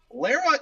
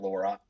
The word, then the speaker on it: Lara: I am saying Lara, right? Not Laura, because I have been trying to make sure I say pronounce it properly. Lara. Because this is my first Tomb Raider game, and I think I did pronounce it incorrectly for a long time.